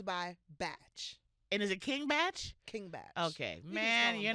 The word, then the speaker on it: King Bach: It's King Batch cuz his last name is Bachelor.